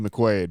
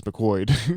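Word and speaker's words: McQuoid: director is simon mccoyd oh man that's an odd odd pronunciation there you want it to be mcquade but it's mccoyd yeah it's it's yeah it's mccoyd uh this is his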